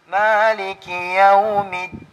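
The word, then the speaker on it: مالك يوم الدين: Minsan nahaluhan ng ta. Maliki Yawmiddin. May nagbabasa na ganun. So mali po yun. Ang tama ay Maliki Yawmiddin.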